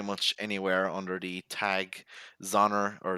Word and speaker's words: Xonor: anywhere under the tag Zoner or Zoner Band, mostly Zoner Band, and Tik Tok is Zonerband official. It's spelled X O N O R, not with a Z, with an X.